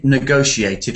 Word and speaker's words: negotiate: but when we say negotiated let's get the stress pattern it's it's second syllable negotiate and when you see no